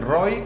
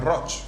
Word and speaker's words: Roig: catalán es tan complicado escriben roy y pronuncian rock band ingresos como el